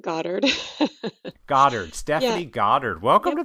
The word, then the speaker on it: Goddard: yeah Stephanie Godard Gard how do you say your last name you know any of the above but Goddard Goddard Stephanie Goddard welcome